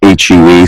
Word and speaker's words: Hue: It's spelled H-U-E, so it's Hue 1968, but it's pronounced Hue.